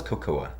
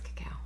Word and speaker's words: cacao: Is that how is it pronounced cacao? Mm-hmm. I thought it was cocoa. Cocoa. It's cacao. You learn something every day.